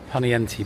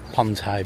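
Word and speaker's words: Poniente: is just remind you ponti Beach a lot of the British say ponai Beach for sure here they've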